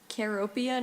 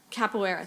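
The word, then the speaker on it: capoeira: the global spread of I apologize for mispronouncing this I know that I'm mispronouncing this um capera thank you dance it's a dance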